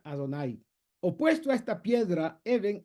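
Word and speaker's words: Adonai: divino a través de el nombre al dud que se pronuncia adonay opuesto a esta piedra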